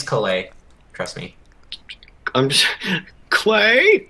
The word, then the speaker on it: Caillat: I thought it was Colat, not Caillat. Oh, okay. Colbie Caillat. Colbie Caillat. Caillat. Fucking. I'm not gonna be able to say that right ever again. It's Caillat.